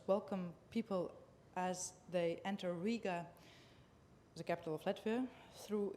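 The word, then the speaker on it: Rīga: the eye which indicates a long vowel you pronounce it Riga in Latvia as very important don't mess with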